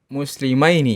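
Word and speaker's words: مسلمين: Tapi kalau dua orang muslim musli muslimaini maini. Nah itu beda kalau di kalau enggak dikasih harakat tulisannya sama. Tapi kalau dikasih harakat bacanya beda artinya beda.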